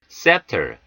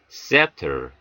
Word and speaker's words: scepter: scepter, S 다음에 오는 C가 묵음되는 경우입니다. scepter, scepter, 왕의 홀, 왕의 권위.